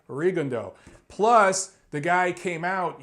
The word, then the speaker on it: Rigondeaux: The name looks French because it has an X at the end. I'm from Detroit, right next to Canada. I know French pronunciation. It looks like Rigondeaux.